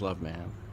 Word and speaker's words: Loveman: my name is love ma'am I'm over pronouncing my last name because some people not believe it so I make a point of saying it that way but it is love man I am originally from